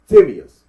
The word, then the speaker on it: Timaeus: pronounce it because we go look up the pronunciation. Timaeus. That is the way. That's the proper method of pronouncing the book. The Timaeus. Do that again. Timaeus. Timaeus. That's the proper way to pronounce it.